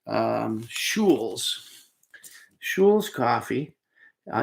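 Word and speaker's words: Schuil: and it's called um shules schulz coffee uh you pronounce it kind of like school but shul and this one happens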